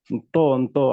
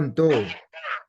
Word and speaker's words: Nto: Yeah, M with apostrophe is pronounced that in to. Oh, Nto. Yeah, like that.